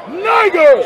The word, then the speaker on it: Niger: teachers as Barnabas and Simeon that was called Niger spell it n i g e r okay so